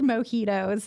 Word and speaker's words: mojito: They also have the best mojitos. I love the mojitos. A mojito. What is a mojito? What in the heck is a mojito? A mojito. I just pronounced the J.